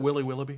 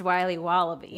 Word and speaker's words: Wiley Wallaby: Can I have a piece of that Willy Willoughby? Wally Wibbly. Wiley's Wallabies. Wallaby Wallies? Wilby Wallaby? It's pronounced Wiley Wallaby.